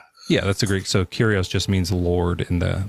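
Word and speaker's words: κύριος: Did you know that the Greek word that they use for Lord there is uh is pronounced curios? It's got a weird spelling was pronounced curios.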